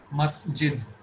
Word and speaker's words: masjid: Masjid. So the letter which has sukoon will be pronounced along with its previous letter.